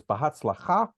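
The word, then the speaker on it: בהצלחה: Actually, again, accent on the last. So in Sephardic pronunciation, generally speaking, the emphasis is on the last syllable. In Ashkenazi pronunciation, it is often on the second to the last syllable.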